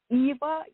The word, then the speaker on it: Eeva: Eva, EEVA, Lancaster.